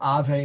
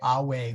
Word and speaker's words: Ave: sound a little weird instead of Ave Maria you will say away Maria gratia plena or sorry gratia plena